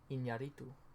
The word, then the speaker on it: Iñárritu: Alejandro González Iñárritu.